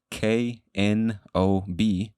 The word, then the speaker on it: knob: Now, for getting technical, a knob, K-N-O-B, knob, the K is silent.